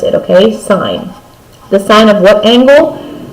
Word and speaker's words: sine: by the railroad students have to say sin it's not sin it's sign the actual word is si and E okay but we drop the e for your shorthand